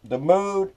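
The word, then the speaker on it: Mau: Now, it's spelled M-A-U. They're from Arlington, Texas. Now, Cajun, well, we pronounce that Mo because all you have to do is put an X in there.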